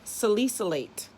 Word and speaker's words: salicylate: Corn has salicylate. They have two pronunciations. Molecule medicine. Two pronunciations are correct. Salicylate, salicylate, or salicylate. Okay.